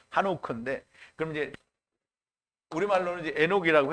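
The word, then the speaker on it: חנוך: 그래서 에녹이라는 말은 하노크인데요. 하노크. 히브리어 발음은 한옥크인데 그럼 이제 우리말로는 이제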